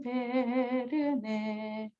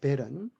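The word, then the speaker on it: Bern: 아름다운 베르네 맑은 시냇물이 넘쳐 흐르네. 예, 그렇게 말하는 베르네가 바로 베른입니다. 베른. 이것을 독일 발음으로 프랑스 발음이요. 프랑스 발음으로 읽으면 베르네가 된다 그럽니다.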